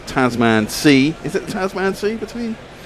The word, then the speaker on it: Tasman: Is it the Tasman Sea between Well, it's it's pronounced Tasman, but yeah.